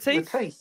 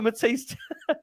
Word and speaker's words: Mathys: Mathys, isn't it? I think. Mathys.